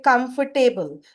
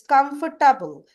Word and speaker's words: comfortable: Like many people they say comfortable. So, it's not comfortable, it's comfortable. So, table anywhere comes in we should say it as table, comfortable.